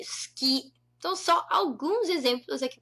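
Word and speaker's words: 好き: Natural seria a gente omitir esse i, esse u. Esse u seria silencioso.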